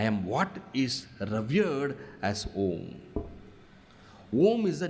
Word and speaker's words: Om: How is Om everything? Om is made up of 3 syllables. A, U, Ma. All right? A, U, Ma. A plus U is equal to O, and O and Ma is Om.